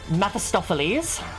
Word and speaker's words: Mephistopheles: And then I'm gonna hit Mephistopheles. All right. Proud of myself for pronouncing that correctly.